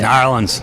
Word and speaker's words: New Orleans: So I've heard it said New Orleans, Nolans, New Orleans. How do you say it? New Orleans.